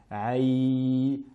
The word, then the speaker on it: يا: La lettre Ya ici doit être prononcée de manière la plus pure possible. Aïe, aïe, et une fois, en aucun cas qu'il y ait de nasillement du nez.